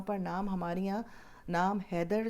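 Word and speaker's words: Heather: होता है यहां पर और जैसे हम वेदर कहते हैं लेदर कहते हैं इसी तरह हैदर की स्पेलिंग से है ह ए ए टी ह आई आर लेकिन हैदर को पुकारा जाता है लेकिन ये औरतों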